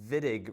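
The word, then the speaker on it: Wittig: The reaction that goes straight up is the vidig reaction. That's a German name, so it's pronounced like two V's, which isn't that the way it's written.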